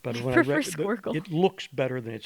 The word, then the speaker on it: squircle: Someone's called it a squircle. Oh. A squircle. Never Like heard that. SQ Square circle.